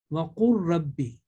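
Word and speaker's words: وقل رب: But it will be pronounced وَقُلْ رَبِّ. Qaf and Ra together. Lam will be ignored altogether.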